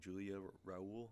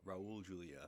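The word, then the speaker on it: Raúl Juliá: Julia Raul? Is that Raul Julia? Raul Julia.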